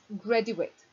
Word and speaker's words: graduate: grady wait and graduate both have the same spelling but we pronounce it differently the verb is greedy wait and the noun is graduate this is graduation noun